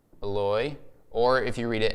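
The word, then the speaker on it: Eloi: pen okay so Jesus says this he says LOI or if you read it in Matthew it's spelled like this it spells like Eli but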